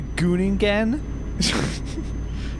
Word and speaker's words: Groningen: Very well. Harder G, Groningen.